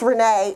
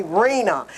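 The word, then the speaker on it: Renée: when they call me my name is renee and it's spelled with an accent and an a they call me reena it's like we just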